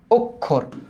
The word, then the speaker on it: অক্ষর: এবার দেখতো এই যে ক আর মূর্ধ স যখন থাকবে এটা লিখিত রূপবাট উচ্চারিত রূপটা এরকম হবে ক যোগ খ ক যোগ কটা বদ্ধই থাকবে যেমন ধরো অক্ষর অক্ষর না কিন্তু অক্ষর অক অক অক্ষর ওকে অক্ষর আচ্ছা পরেরটা